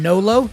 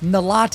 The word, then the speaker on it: Nolot: His name is Benjamin Nolot, not to be confused with Nalat, even though that's how his name is spelled, but he is a French-American film producer, director, and writer.